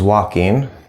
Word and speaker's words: walking: was walking was walking the L here is silent okay this spelling pattern